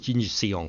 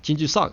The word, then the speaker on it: Jinju Seong: Korean people were like Jinju Sung. I'm like, oh, I've been saying it wrong the whole time. Okay, so even though it's spelled Seong, it's not Seong, it's Sung.